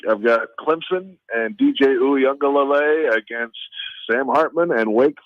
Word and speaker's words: Uiagalelei: That's pretty good for a Monday to be that much on your game for the pronunciation of the Clemson quarterback. Can you do that again? DJ Uiagalelei.